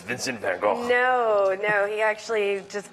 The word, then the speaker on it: Van Gogh: love it and then van go I think that's like the American pronunciation of his name am I right do